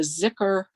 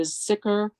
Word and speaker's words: Zikr: It's from the Zikr Circle, Z-I-K-R Circle. If everyone in the world advised against my loving you, still I would. One lives in the Zikr Circle so that the round knot of the